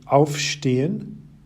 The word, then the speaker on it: aufstehen: Notice that aufstehen, in which the stress is on the auf, is a separable verb,